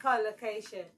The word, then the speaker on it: collocation: Say collocation. Collocation is stressed on the first syllable.